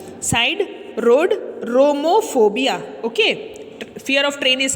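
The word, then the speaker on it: siderodromophobia: सी, आई am breaking the spelling so that it is easier for you to pronounce, आपको pronounce करने में easy हो, इसलिए मैं तोड़ के बता रही हूँ।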